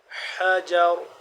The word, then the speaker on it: الحجر: کا باریک، بعصاک الحجر، حا کو حلق کے درمیانی حصے سے ادا ہوتا ہے، حجر حجر، آخر میں را کو موٹا پر پڑھیں گے۔ یہ تھوڑے چھوٹے